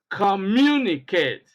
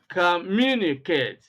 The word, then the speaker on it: communicate: The second example, interpolate, interpolate, humiliate, humiliate, congratulate, congratulate, communicate, communicate. Now, you always see stress being placed on the second syllable.